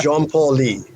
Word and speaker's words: Jean Paul Lee: It's Jean Paul Lee. 有点像那个品牌 Jean Paul Gaultier 是吧？对，对，一样的 pronunciation。